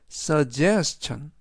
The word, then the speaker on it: suggestion: 이번 단어는 suggestion suggestion suggestion이라고 발음하시면 되겠고요. 이때 강세는 제의 강세가 있습니다.